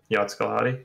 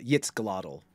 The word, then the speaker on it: Yitzglottle: It's a Yitzglottle, but it's okay. Oh, Yitzglottle. Yitzglottle, yeah. Dude, at least I didn't say it. Like, yeah, it was pretty close. Yeah, it was good. It was pretty close. It was a good stab. Yitzglottle. Yitzglottle. Two syllables.